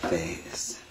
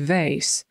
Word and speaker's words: vase: That vase. Tutaj wyrocznia mówi vase i to jest wazon, ale jest to wymowa amerykańska. Brytyjczyk powiedziałby vase i to jest dokładnie to samo słowo.